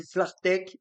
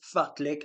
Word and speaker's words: Fartlek: Fartlek, l'autre jour j'ai dit Flartek, c'est Fartlek, voilà, je crois.